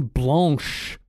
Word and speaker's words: blanche: I'm drinking an apricot lemon blanche. That's correct French pronunciation for everybody out there too.